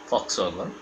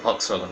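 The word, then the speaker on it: Volkswagen: বা ভক্সওয়াগন যেটাই বলি, যদিও জার্মান উচ্চারণে ফক্সওয়াগন, জনগণের জন্য গাড়ি, আমাদের দেশে যেটা ভি দিয়ে লেখা হয় সে কারণেই আমরা ভক্সওয়াগন বলি।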